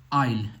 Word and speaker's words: aisle: तो इसके लिए एक एग्जांपल दिया गया है, बहुत ही अच्छा है, आइल, AISLE, राइट। सो आइल में एस प्रोनाउंसिएशन नहीं हो रहा है, एल आ रहा है, आई और एल आ रहा है।